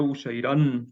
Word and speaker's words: Ushairan: Bueno, de hecho aquí sería Ushairan porque aquí es una A larga.